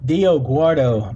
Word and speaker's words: Dioguardo: I don't know how to pronounce his last name, but the the kid is here. Wait, say it again. Dioguardo.